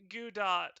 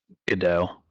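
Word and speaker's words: Godot: mouth sarus he's an idiot gdot's name isn't pronounced Gat then how is it pronounced Jin how's it pronounced gdau gdau why why is there a te in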